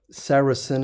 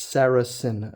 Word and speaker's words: Saracen: Saracen is how you mention it, how you pronounce it. Some people find some difficulty not knowing how. It's Saracen.